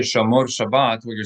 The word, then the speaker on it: Shabbat: Shomar Shabas is what I hear. That's right. It's the same root, but shrabas is a it would not be understood by a Hebrew speaker